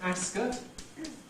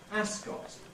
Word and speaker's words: Ascot: are like this this name is traditionally called Ascot increasingly one hears people pronouncing it Ascot with a strong vow in the second syllable